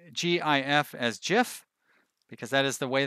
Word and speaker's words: GIF: for it now I assume that you also pronounce gif as jiff because that is the way that it's actually pronounced and you're not one of those weirdos who tries to pronounce it as gif because if you're gonna tell me that that